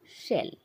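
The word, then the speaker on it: shell: इसी तरह से है, इसमें हम जीभ को थोड़ा सा मोड़ेंगे शेल, और इसका उच्चारण होगा शंख।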